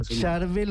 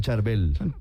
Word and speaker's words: Charbel: San Charvel o San Charbel, ¿no? Igual San Charvel o San Charbel, el las dos pronunciaciones.